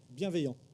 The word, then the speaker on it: bienveillant: Bienveillant in French. Very good. How do you say it in French? Bienveillant. Oh, bienveillant.